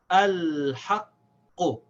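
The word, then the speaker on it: الْحَقُّ: It's the first letter, so we pronounce it. We say al.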